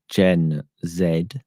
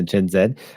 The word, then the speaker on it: Gen Z: music has changed with Gen Zed, as I insist on uh pronouncing them for Commander McMillan and anybody else who lives in U Trump land. That was a Z. Z is is the way you pronounce it if you're having a heart attack and you just can't get to the end of the letter.